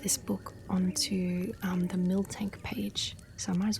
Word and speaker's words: Miltank: Pronounced mil tank.